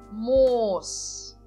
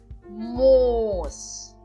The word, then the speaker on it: Moos: Moos. Moos. Aqui então eu coloquei em azul a parte que nós então pronunciamos longamente na palavra. Então seria moos. Moos.